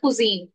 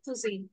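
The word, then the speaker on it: cuisine: আয় এস আই এন ই বল পড়ার সময় কুজিন ওকে কুজিন কুজিন okay yes miss হ্যাঁ ফেভারিট কুজিন আই লাভ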